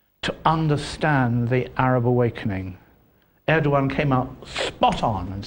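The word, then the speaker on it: Erdoğan: true um you know i think that um erdogan which is how you have to pronounce his name i'm told in turkey i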